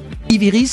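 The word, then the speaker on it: Ivyrise: Ivy Rise, c'est comme ça qu'on dit.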